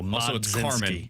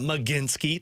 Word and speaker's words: Mlodzinski: the L is silent, so Mlodzinski. not Cameron. I apologize. It's like uh Carmen Mlodzinski. Yeah. Mlodzinski? Yeah. Not Mlodzinski.